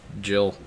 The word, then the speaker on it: Jill: chan yeah sort of her name rhymes with drill uh grill can't think of a female name that rhymes with drill a jill yes it's jill in